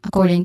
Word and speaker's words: according: Pronunciation wise, according, and then core as a stressed syllable, and then deng has a short e sound ending with a nasal sound ng or ng sound. And then according to has a long u sound.